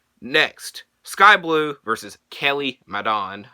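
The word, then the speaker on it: Madan: Next, Sky Blue versus Kelly Madon. I think it's Madden. Madon is spelled M-A-D-A-N.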